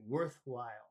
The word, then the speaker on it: worthwhile: have two words together it's the the first word is usually the one that has the emphasis so you put more emphasis on the word worth when you say worthwhile is it worthwhile climbing